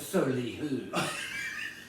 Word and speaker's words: Soleil: Oh, actually, it's Soleil. Yes, I think that is the correct pronunciation, sir.